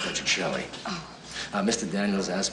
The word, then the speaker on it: Petrocelli: be too expensive Mr petrielli it's um it's pronounced by Chelli oh uh Mr Daniels